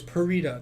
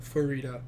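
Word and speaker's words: Pharita: Apparently the H is silent. Yeah. So it's Parita, not Farita.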